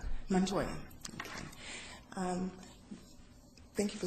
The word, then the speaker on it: Montoya: Paul Montoya welcome to Palm Beach County and pronounce that last name again Montoya Montoya okay um thank you for submitting your name